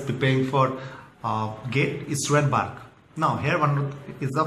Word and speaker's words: BARC: to pronounce the word BARC, never say the word BARC. Always say B-A-R-C. Pronouncing BARC is a very wrong impression.